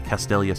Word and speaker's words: Castelia: I swear to God C oh I did pronounce it correctly castelia City what I really want is to go